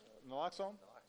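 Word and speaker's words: naloxone: We've got to expand prescriber training, increasing the use of uh nlloxx nlloxxone. I want to make sure I was pronouncing that right.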